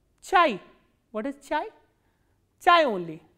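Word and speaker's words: чай: How will you pronounce this word? Ch, a, e. Chai.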